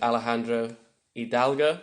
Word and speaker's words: Alejandro Hidalgo: I'm here with my good friend Alejandro Hidalgo, is the right way to say it?